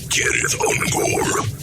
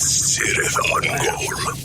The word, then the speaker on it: Cirith Ungol: Sir Unore means pass of the spider while Tolken's Elvis would pronounce it Kith Unore. The band always pronounced it sith unore.